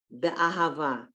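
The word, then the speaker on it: באהבה: Here, the word before that, be'ahava. So it's like the I in if. Be, okay, at the beginning of a word, if you see that two dots of shvat, you have to pronounce it.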